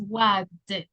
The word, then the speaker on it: wagged: This one is hogged, con D, and this one is wagged, okay?